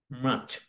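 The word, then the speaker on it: March: আমরা সবসময় এভাবে করে থাকি, বাট এর সঠিক উচ্চারণ হচ্ছে মার্চ।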